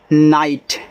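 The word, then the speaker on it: night: तो एन आई जी एच टी नाइट।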